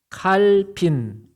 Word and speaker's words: 칼빈: 칼빈. 예. 칼빈이라 그래. 예. 불러 발음으로 깔뱅이라고도 해요. 캘빈이라고 하고.